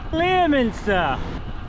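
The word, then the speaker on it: Leominster: Not to be confused with Lemanster, which is of course how it should be pronounced.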